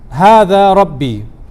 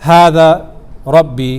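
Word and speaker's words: هذا ربي: And he said, Hada Rabbi. Let's pay very close attention to how we pronounce this, how the intonation of this.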